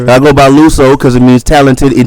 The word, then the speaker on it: Luso: gave a speech hold on my name is luo the artist I was born in Nashville Tennessee